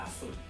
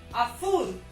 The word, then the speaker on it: azul: Azul, Ricardo, con Z, azul. Azul, No, que no te exagerado, azul, más suave, azul.